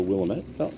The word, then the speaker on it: Willamette: That's the Willamette. But not when you yes. do Willamette, is that how permaculture. it's pronounced?